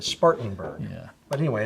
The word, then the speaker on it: Spartanburg: out in Spartanburg yes you've taught me how to say it right I've been saying Spartans burg because we had a Spartans store and now it's also I fixed it Spartanburg yeah but anyway it's